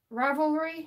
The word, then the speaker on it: Ravelry: Some people pronounce it different. Ravelry is pretty much how it's pronounced.